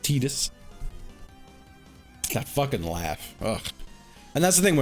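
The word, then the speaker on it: Tidus: It's pronounced Titus.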